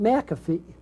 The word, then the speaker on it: McPhee: a poem about him and i pronounced it mcafee i may read that tonight i'll ring read the old angus mcphee uh i pronounce his name mcafee and uh because i